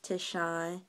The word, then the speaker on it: Tishan: My name is pronounced Tishan, and it's not spelled the way it sounds, so keep that in mind.